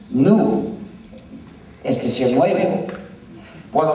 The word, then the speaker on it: GNU: porque según el diccionario la g es muda y la palabra pronuncia como nu es dec nuevo por